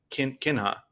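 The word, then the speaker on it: קנאה: The word, and this has come up on the podcast before, and I want to make sure I'm saying it correctly. Kinha. Yeah, kina.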